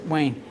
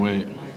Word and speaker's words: Wade: I'm here for my exclusive interview with Wayne. Dwayne Wayne, how you doing? Dwayne Wade.